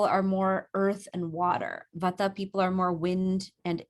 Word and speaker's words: vata: I pronounce them vata, pitta, and kapha.